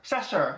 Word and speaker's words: Cheshire: this a shirt sure sasher cheshire that's how you say it shusher sure whatever i'm trying people i'm trying um but this is a cast photo shoot for season 13.